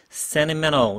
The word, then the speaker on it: sentimental: Sentimental. 이렇게 굉장히 굴렸죠, 그죠? Sentimental. TT를 다 날리고 앞에 있는 N 발음들을 살려가지고 Sentimental. Sentimental crap.